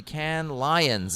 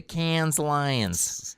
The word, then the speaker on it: Cannes: I went to the Can Lions. It's pronounced whatever. Can Lions. I always like to be French. As we call it in Winnipeg, the Cannes Lions.